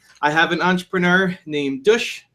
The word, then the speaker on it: Dush: have an entrepreneur named douche rhymes with push who has an awesome